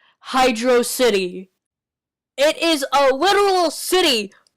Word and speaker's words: Hydro City: level from Sonic 3 it's freaking Hydro City it's not hydrosity it's Hydro City hell most of the voters agreed that this is the way to pronounce Hydro City it is a literal